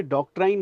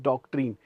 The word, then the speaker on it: doctrine: भाई ये डॉक्ट्राइन नहीं है, दिस इज डॉक्ट्रीन.